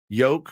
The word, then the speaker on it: yolk: Yolk rhymes with Coke.